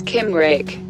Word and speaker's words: Cymric: tail it is if it's succumb Rick pronounce Kim Rick there are lots of